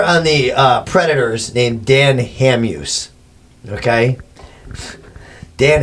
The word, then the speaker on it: Hamhuis: the Predators named Dan Hamhuis. Okay. Dan Hamhuis. Hamhuis. Hamhuis. That's how we pronounce it in this country.